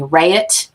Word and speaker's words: Raitt: The activist group was put together by Jackson Browne, Graham Nash, Bonnie Raitt.